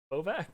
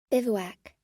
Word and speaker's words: bivouac: Bovak? No, it's not. It's not. I do this every single time I see... By the way, I have looked up the pronunciation of this word probably 100 times. Bivouac.